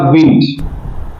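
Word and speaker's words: wind: it produce a music the विंड देखिए इसका उच्चारण होगा विंड अगर ये वर में होती है तो इसका उच्चारण होता है वाइन तो द विंड यानी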